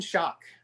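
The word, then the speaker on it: Schock: but before that is it shank shock aaron shock yes congressman aaron shock i think from illinois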